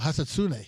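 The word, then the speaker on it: Hisatsune: I think it's Hisastoon. I don't know. Oh, Hasatsune. Oh, there you go.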